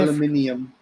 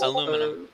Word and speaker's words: aluminum: Say Oh, yeah, aluminium. Aluminium. Canada owns. Isn't that how you say it? leopard. Aluminium. It's Aluminum.